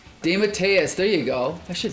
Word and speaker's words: DeMatteis: I believe it's pronounced JM DeMatteis. DeMatteis, there you go.